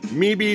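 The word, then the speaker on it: Mebe: sold it to mattel m-e-b-e toys me bee toys all right so once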